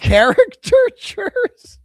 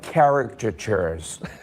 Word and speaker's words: caricatures: That's how he thinks the word's pronounced. Character chures. One more time. Character chures. You You're definitely a bunch of character chures. We're almost like caricatures.